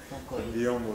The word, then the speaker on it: Biyombo: Je sais pas si on a prononcé comme bien parce que il a la confusion soit c'est Biyombo Biyombo. Biyombo c'est bien prononcé.